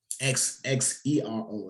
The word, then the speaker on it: Xero: So you got called Xero. Xero is spelled, but it's called Xero.